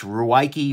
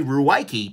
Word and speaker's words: Ruike: On the bad side, look, this is not pronounced rake. I'm sorry, there is no way that you can torture the English writing system into pronouncing this rake. Given, certainly the people who named this do not speak English, that's fine. But no, people will be calling this Ruike or Rike or something like that.